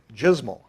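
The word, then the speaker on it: JSML: so we called it jmal rhymes with dismal the JavaScript message language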